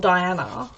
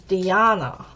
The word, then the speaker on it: Diana: if she she wasn't she was born in Croatia so they pronounced things differently and she my name to her was not Diana it was Deanna and nobody calls me